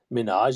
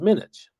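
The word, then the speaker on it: Minhaj: mispronouncing both his names it wasn't Hassan it's Hassan it wasn't Minaj it was minutes and he was changing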